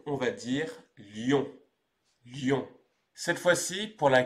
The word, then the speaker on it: Lyon: que l'on appelle celle-là Lyon il ne faut pas confondre avec l'animal qui lui se prononce aussi lion mais attention l'orthographe est